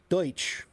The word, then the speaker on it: Deutsch: Deutsch. Deutsch. That's that means German. And that's where we get the word Dutch. And if you say Pennsylvania Dutch, that means Pennsylvania Deutsch, which means Pennsylvania Germans.